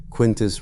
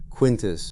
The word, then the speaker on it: Quintus: Roman, 2 syllables, the emphasis on the first, the vowels slightly flattened by an accent from 2,000 years after his death.